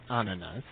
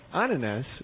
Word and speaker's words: ananas: However, if you use the Dutch word for pineapples, which he tried to help us pronounce, I believe it is ananas.